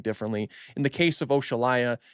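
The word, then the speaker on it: Oxalaia: You know, I pronounce it Oshalaya because it's named after the African deity Oshala. So it's literally pronounced Oshalaya. A lot of people like to pronounce it Oxalaya, which is fine too.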